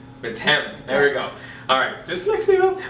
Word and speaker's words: Methem: Is that how I pronounce it? Methem. M-E-T-H-E-M. Methem.